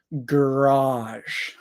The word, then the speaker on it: garage: choosing this one because British people and American people say this differently so again I'm American I say garage garage um that first one I think is the schw sound again g g g g g we don't say G we don't say gay we don't say G we say G garage garage but I think that most British people say garage or something like that garage marage but